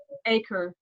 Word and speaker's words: Acre: and we forgot went how to you pronounce aqua in English. Acre.